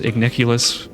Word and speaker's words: Igniculus: I like to call him Ignulus, but the game rhymes him with Igniculus more often than not.